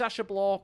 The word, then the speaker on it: Ashablois: your name he said everybody keeps mispronouncing it well I try my best it's Asha blah or Rey whatever wants